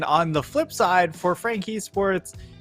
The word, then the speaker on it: FAK: have frank e sports the fak is pronounced frank i believe and on the other